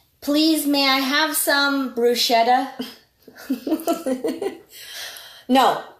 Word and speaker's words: bruschetta: But it's bruschetta. It's written SCH, and in Italian, the pronunciation is K, like a K, but it's not really a Like K.